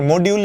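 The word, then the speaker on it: modulo: মানে হচ্ছেফাই মডিউল মডিউল এটার উচ্চারণ হচ্ছে মডিউলু এটা মানে হচ্ছে পাচকে দুই দিয়ে ভাগ করলে ভাগশেষ পাচকে দুই দিয়ে ভাগ করলে ভাগশেষ কত?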